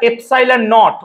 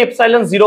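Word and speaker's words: epsilon naught: এই এফসাইল টাকে আমরা এফসাইল নট উচ্চারণটা এভাবে হবে এফসাইল নট বা তুমি এফসাইল জিরো ও বলতে পারো এফসাইল নট দ্বারা চিহ্নিত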